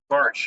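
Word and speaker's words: Bartsch: her last name, but is it Bartish, I think is how you pronounce it? Barch.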